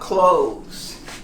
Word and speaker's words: clothes: Because of the TH, we run away. We think it's so hard. How about if you pronounce it just like this? Clothes. Clothes. No TH, but I am sure everyone will understand when you say, I like to buy clothes.